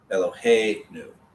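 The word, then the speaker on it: אֱלֹהֵינוּ: The new ending will not be emphasized. It will always be the syllable before the new. Eloheinu. Avinu. Your emphasis is going to be before the news.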